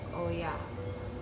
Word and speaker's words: Oya: Okay, so if you watched the previous video, I said that I was going to do a reading on the spirit of Oya.